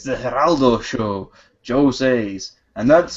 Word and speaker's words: Geraldo: haraldo did one awesome Geraldo no it's Heraldo that you don't pronounce the G ah God the the look on that guy's face it's the Heraldo show joose and that's